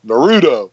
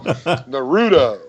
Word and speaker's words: Naruto: like to call it not Naruto cuz like that's the right way to say it and I'm you know some Tweedy 50 year old so I say Naruto no real Naruto you know and I